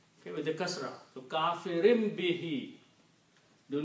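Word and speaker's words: كَافِرٍ: If there is a ba after noon, then noon is pronounced as meme. Kafirun will become kafirin. Okay? And why it become kafirin? Because of this sound of kasra. Kafirin bihi. So you actually pronounce, this is the reason there is a little meme there. Kafirim bihi. The word is kafirun, but the effect of B is that it's sounding like a meme.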